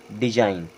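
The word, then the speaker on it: design: के बाद जी आता है तो हमेशा व साइलेंट ही पढ़ा जाता है जैसे यह क्या हो गया हमारा डिजाइन उसी प्रकार यहां भी आई के बाद जी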